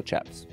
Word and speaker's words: chaps: According to the Wikipedia, it can be pronounced either Shaps or Chaps.